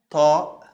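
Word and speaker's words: ط: The next one is ta. Ta, like the T, but the T from also when we open the throat a little bit. So it's ta, ta. Yeah, it's stronger than the T, of course, and it's almost the same form.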